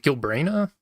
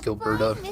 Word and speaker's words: Gilberta: that came out for Yavon and was it Gilbrana?